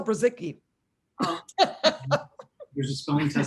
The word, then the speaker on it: Brzycki: can ever spell it it's b r z y c k i dot com just like it sounds just like it sounds